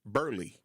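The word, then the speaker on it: Burleigh: Actually, it really is pronounced Burley.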